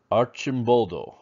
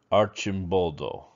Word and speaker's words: Arcimboldo: fun with today um his name is giuseppe archimboldo so so let's uh hitch up and go see what uh giuseppe is all about okay here you see a picture of giuseppe archimboldo and i know his name might be a